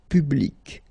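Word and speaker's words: publique: And well, phonetically, it is exactly the same thing. So public at the masculine form, feminine form, public, the same.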